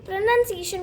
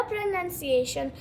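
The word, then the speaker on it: pronunciation: अब कुछ लोग बोलते हैं प्रोनाउंसिएशन लेकिन आपको वो बचपन से लेके अब तक अगर आप प्रोनाउंसिएशन बोले तो आपकी हैबिट में आ गया है वो लेकिन वो गलत है।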